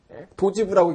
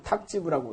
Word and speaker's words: 탁지부: 도지부라고 읽지 않고 탁지부라고 읽어요.